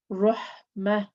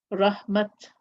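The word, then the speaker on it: رحمة: So that's when I'm stopping. I will pronounce the ta as a ha when stopping. When continuing reading, I will pronounce it as a ta, ni'mat, rahmat, or ni'mata, ni'mat, and then continuing.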